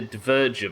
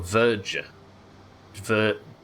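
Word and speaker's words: Dverger: I want to say Diverger, but that doesn't feel right on my lips. Can't arrest people, but you can call assistance that does the interview. The D is silent. So Verger.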